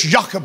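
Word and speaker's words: Jochebed: names in the Bible they're spelled like this joke Abed amram but if you pronounce them correctly it's jacobed you got to put a little spit in there namram those are actually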